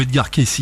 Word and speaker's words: Edgar Cayce: Je sais même pas si, je sais pas si tu te rappelles d'Edgar Cayce ou Edgar Cayce, hein, suivant la prononciation.